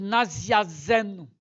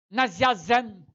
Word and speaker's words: Naziazeno: É a história de Naziazeno. Olha, vou pronunciar mais rápido. Naziazeno. Aí o ouvido capta Nazareno, olha. E também capta Naziazeno, assim, algo mais estranho, né?